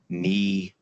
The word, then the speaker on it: Neidhofer: name is Neer Hofer if you're having pronouncing it think neidhofer so I was born